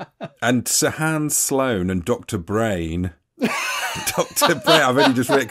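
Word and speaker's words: Breyn: Sahan Sloan and Dr Brain Dr I've already just read cuz it's spelled b r e y n and said it out loud and I'm just realized it's called do brain come into my room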